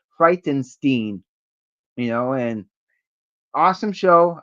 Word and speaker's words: Frightenstein: Yeah, it has to be uh it's not Frightenstein. It's actually supposed to be pronounced Frightenstein, you know.